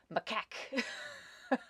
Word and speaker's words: macaque: excellent I looked it up for you it's pronounced macaque I would not have guessed that oh that's a monkey okay that makes sense it's a macaque okay that makes so much sense I have